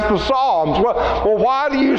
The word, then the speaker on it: Psalms: trying to pronounce the Psalms well well why do you say Psalm and it starts with the P well it's that that Greek letter is P s and the P is silent we have words like